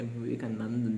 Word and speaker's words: Vivekananda: He couldn't spell Swami Vivekanandan, but it's okay. Sorry, why did I say Vivekanandan? That's what he pronounced. He could not pronounce Swami Vivekanand properly. Let me say that again, Swami Vivekanand.